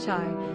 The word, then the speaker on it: chai: Het yod spells the word chai, sometimes pronounced like the English word hi, which is a word and symbol that means life.